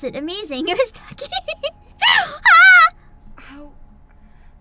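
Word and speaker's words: Tachy: Now I remember how to pronounce it. Amazing. It was Taki.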